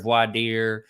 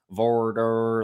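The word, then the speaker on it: voir dire: actually actually means vorder voidir vorder like whoever however you want to pronounce it again there's a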